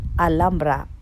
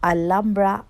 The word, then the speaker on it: Alhambra: O sa Espanyol ay Alhambra dahil sa Espanyol hindi pronounce ang letter H. Kaya Alhambra ang pronunciation ng Alhambra.